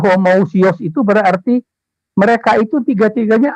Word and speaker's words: homoousios: albasharu Janita enggak terlalu posisi bacanya ya Tapi bacanya homoousios itu berarti mereka itu tiga-tiganya ada dalam status